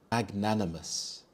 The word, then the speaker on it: magnanimous: man in the meeting magnanimous magnanimous the stress is on the second syll Nan magnanimous this means generous or